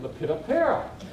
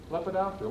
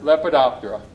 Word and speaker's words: Lepidoptera: butterflies at nine years old i called it lepidopara that makes sense right i was in college where i heard somebody pronounce it lepidoptera what is that oh yeah right so lepinoptera the order lepidoptera the butterflies they include the butterflies so butterflies